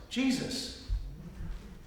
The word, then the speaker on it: GSYS: The acronym for the guidance system is spelled GSYS and is pronounced Jesus.